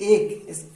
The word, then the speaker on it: ache: ACHE, एक, इसकी सही प्रोनाउंसिएशन होगी एक, ACHE एक। एक मीन्स दर्द।